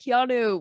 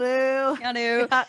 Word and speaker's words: Keanu: Because I always forget that Keanu was, like, doing that.